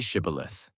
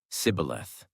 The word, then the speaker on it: Shibboleth: When he said, "No," they said to him, "Then say Shibboleth." And he said, "Sibboleth," for he could not pronounce it right.